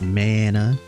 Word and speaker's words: Mana: at the time right it's a long a sound okay thanks my ha is uh so it's Mana we're saying Mana is